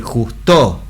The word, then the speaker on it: justo: Decimos, no podemos decir justo. No, decimos justo. Entonces la sílaba cae la potencia en jus.